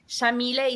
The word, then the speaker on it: Yamile: So Yamile is an Arabic name pronounced with an Argentine accent. We say the Y like an SH.